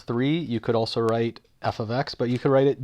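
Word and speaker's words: f(x): notation is basically where you use this notation pronounced f of x instead of y so think of an algebra one type equation y equals five x plus two we would call that f of x equals five x plus 2 or a function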